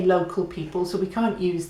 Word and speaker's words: local: Local is local. We say local, they say local. So they're landing on the al.